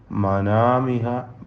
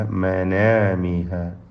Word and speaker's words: منامها: ഫീ മനാമിഹ, മനാമിഹ അല്ല മനാമിഹ, ഫീ മനാമിഹ.